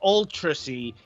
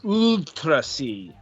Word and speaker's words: UuultraC: you know the the it's denoting elongation okay of the vowel um that's remember that's what I remember John telling us so it's not ultracy it's utrasi yeah I don't particularly